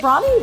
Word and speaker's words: Brawny: Does Brawny rhyme with anything besides brownie? Tawny? It's the only thing I could think of, really. Brawn. Like a direct rhyme. It's brawn. So right, it's Brawny. Wrong.